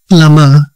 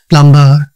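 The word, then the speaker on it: plumber: ಟಿಎಲ್ ಯುಎಂ ಡಿಇ ಆರ್ ಇಟ್ ಇಸ್ ಪ್ಲಮರ್ ಪ್ಲಮರ್ ನಾಟ್ ಪ್ಲಂಬರ್ ಸಿಓಎಂಬಿ ಕೂಮ್ ಕೂಮ್ ನಾಟ್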